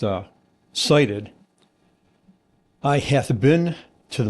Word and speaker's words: SIDIT: So, si ti d pronounced uh cited.